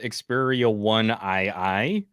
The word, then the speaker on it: Xperia 1 II: It's pronounced Xperia 1II.